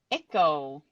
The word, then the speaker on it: Echooo: is mine and actually I mean the the pronunciation of echo is correct it is Echo oh very good